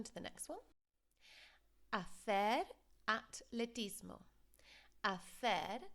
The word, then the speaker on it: atletismo: and pronunciation errors therefore, because in English, of course, we have the th sound with the H. There's no H in the Spanish, so be really careful of that.